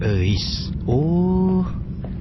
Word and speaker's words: Euis: Namanya Euis. Itu tuh nama Sunda bro, dibacanya Eis.